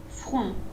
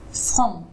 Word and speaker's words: front: Ouais, alors le on, il faut qu'il vienne plus dans le nez. Front. Front.